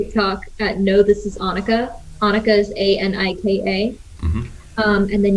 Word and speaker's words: Anika: it can be but yeah it's annika like monica okay awesome that is